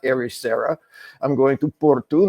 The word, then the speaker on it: Porto: arera I'm going to Porto not Porto I'm going TOA not Lisbon or Lisbon you know so there's